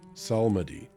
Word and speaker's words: psalmody: Psalmody. Okay, that P is a P. There's a silent people. Psalmody. Okay. It's psalmody.